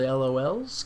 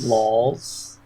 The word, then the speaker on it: lol: awesome thanks for the lols good luck for the future for ragnarok it's pronounced laws only yeah i've said lol's that's clearly laws disgraceful if you're gonna